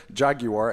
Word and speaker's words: Jaguar: am a Top Gear fan, and Jaguar is how it's spelled because it has a U in it.